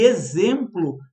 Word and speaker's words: exemplo: E exemplo tem som de Z, de azeite.